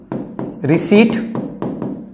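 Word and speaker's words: receipt: आईटी है डिसी रिसी ये पी लिखा हुआ है लेकिन बोलते रिट ही है कंसीट घमंडी फॉर फीट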